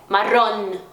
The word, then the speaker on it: marrom: Então, por exemplo, marrom e não marrom, esse som meio nasalado português. Não, é marrom, tranquilo?